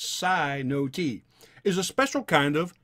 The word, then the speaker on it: cenote: we can make sense of this verse a sino-t okay c-e-n-o-t-e it says it's pronounced psi no t is a special kind of sinkhole when the